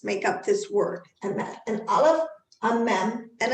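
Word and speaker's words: אמת: make up this word, emet, an aleph, a mem, and a tav. And aleph is silent, but it has an a sound, emet, and that's a mem, and that's a tav, emet.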